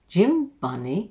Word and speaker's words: gym bunny: Okay, two syllables in the word. We go up on the stress, gym bunny, and then we come down on the last second syllable.